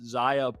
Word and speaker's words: Xayah: of their weird Xerath Xayah bot lane, which I'm apparently having so much trouble to say, just It's because, like, well, it's 2 X's that are pronounced as, like, Z's, and you never see